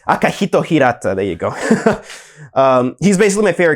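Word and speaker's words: Akihiko Hirata: I think I mispronounced his name right there, but I mean, damn. Oh, it's Akihito Hirata.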